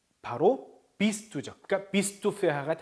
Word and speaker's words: verheiratet: verheiratet. 자, 요거 fau죠. fau. 요거는 발음이 F죠. 그래서 ver가 아니고 fair.